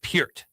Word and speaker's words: Peart: Do you like Damn Neil Peart? Are you right. into drumming? Okay. Peart. Bonham or Didn't Neil even know Peart when it comes to They call drumming? his Peart. Yeah. It's Peart.